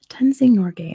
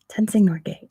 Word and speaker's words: Tenzing Norgay: Tenzing Norgay, at least is how you say it in American English. I'm sure that's not correct at all how you'd say it in Nepal.